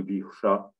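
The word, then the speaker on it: विष: Et un autre Visha avec le chat, avec la pointe de la langue vers le haut, le chat qu'on appelle rétroflexe, ça se prononce donc Visha.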